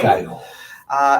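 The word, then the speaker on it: gaol: It's spelled with a G-A-O-L, Maitland Jail. Gale.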